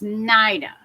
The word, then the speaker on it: Naida: The I is pronounced as I. So, it's Naida.